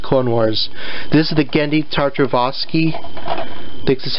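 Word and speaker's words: Genndy Tartakovsky: wars but just clone wars this is the gandhi tartrovoski this is how you say his name the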